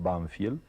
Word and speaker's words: Banfield: El pueblo se llamaba, nosotros lo pronunciábamos Banfiel y es un pueblecito